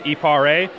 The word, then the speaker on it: Eparé: And finally, the correct pronunciation. Our company name is Eparé, and this is the Pocket Wine Aerator.